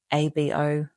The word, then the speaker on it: ABO: to call it ABO, do make sure you say it that way and always write it with a slash between the letters, because otherwise if you pronounce this as just one word, one three-letter word, it's a slur for Australian Aboriginal and Torres Strait Islander people.